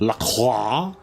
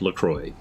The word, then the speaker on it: LaCroix: excuse me that's pronounced law but Lacroix is actually a combination of the places La Crosse Wisconsin and the st. Croix River so it is in fact Lacroix it's just that Wisconsin's